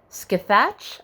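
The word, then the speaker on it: Scáthach: um a lady named i have never known how to say this skithatch i believe is how you say it she's a member of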